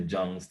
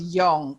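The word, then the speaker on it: Jung: yes they said the john's topology okay yes so so the john j is it's supposed to be pronounced young carl young um so miles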